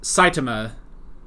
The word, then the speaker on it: Saitama: Also, we did get that it's pronounced Saitama.